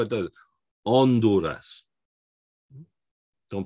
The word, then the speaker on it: Honduras: as a w and honduras we're not pronouncing that h no h's get pronounced so it's not honduras which is what we have what we'd have in english we pronounce those h's or we sometimes do